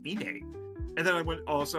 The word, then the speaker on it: Inuyasha: Apparently, we've been pronouncing Inuyasha wrong this whole time. It's Ine. Despite being spelled with a U, it's an A. It's Inuyasha.